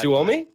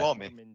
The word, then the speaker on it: Suomi: You butchered What, that. Suomi? It's What? Suomi. Suomi.